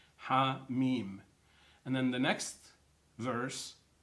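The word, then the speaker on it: حم: They're drawn in a connected way, and yet they're pronounced separately. Ha, Mim.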